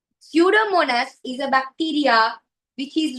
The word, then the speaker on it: Pseudomonas: Pseudomonas. P is silent. P is not pronounced. We don't pronounce the P. Pseudomonas is a bacteria which is released to the ocean water.